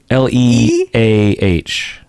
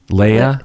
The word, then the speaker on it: Leah: Along those lines, patron Leah or Leia, I always get that wrong. I know. L-E-A-H. Leia? Leah. That's Leah.